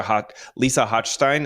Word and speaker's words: Hochstein: I don't watch Real Housewives of Miami, so I'm sorry if I'm butchering this lady's name, but Lisa Hochstein, is that how you say her name?